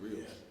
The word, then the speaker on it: griot: Yo, we used to call them griots, pronounced griots.